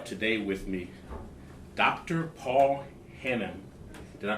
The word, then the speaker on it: Hannam: uh I have today with me Dr Paul Hanam did I pronounce that correctly yes sir perfect awesome awesome